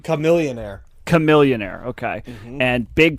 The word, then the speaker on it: Chamillionaire: Chamillionaire.